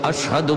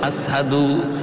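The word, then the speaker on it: أشهد: আশহাদু বলতে পারতেন না। বলতেন আসহাদু। সিন উচ্চারণ করতে পারতেন না। সিনটা ভালো করে উচ্চারণ হতো না।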